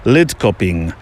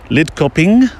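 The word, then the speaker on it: Lidköping: town nearest the castle which I think you pronounce is lid coping lid coping you do the the ination has to go the other way doesn't it uh where we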